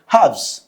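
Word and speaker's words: halves: कर रहे हैं सो यू से हव्स हव्स okay L is silent there now index what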